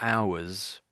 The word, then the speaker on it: hours: I, I uh, I think you made a point of mentioning of pronouncing the H. That's one of those rare words where we don't say the H at the beginning. It's silent, that particular H.